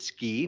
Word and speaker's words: SCI: hard sea we thought going' Be Clever to pronounce it ski plus we were in Utah and but just